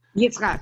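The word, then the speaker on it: יצחק: Yitzchak.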